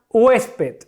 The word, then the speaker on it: huésped: Tengo la palabra huésped. ¿Cuál es la sílaba tónica? Hues. ¿Sí? Esta es mi sílaba tónica.